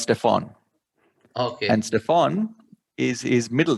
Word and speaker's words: Stephen: you know his name stephen stephen curry is what i thought is uh so s-t-e-p-h-e-n is actually pronounced stefan and stefan is his